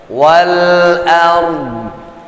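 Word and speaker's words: والأرض: Dhadnya ya, hanya sepersekian persen aja terucap. Tinggal ditambahkan kalau misalkan o, dha, fathah baris atas, dhi, kasrah baris bawah, atau dhammah baris u kita bacanya, ya. Kalau di sini sesungguhnya dia wal ardi, tapi tetap harakat di penghujungnya nggak terbaca. Wal ard.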